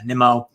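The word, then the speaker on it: Nimmo: conforto and guys like nimo um or nemo however you want to pronounce it i do think it's nemo though uh but instead of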